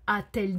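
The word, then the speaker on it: a-t-elle: a dit ok le le T pour rappel le T ici n'a aucune signification il est juste là pour prononciation d'accord parce que a elle dit c'est un peu compliqué pour l'oreille donc atelle dit pour qu'on puisse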